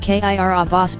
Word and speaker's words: Kiribati: Kiribati, pronounced Kirabas by locals, has an average elevation of just 6 feet above sea level.